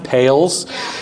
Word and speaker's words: Poehls: It's actually pronounced Poehls. It doesn't look like it. I'll be the first to admit it does not look like that.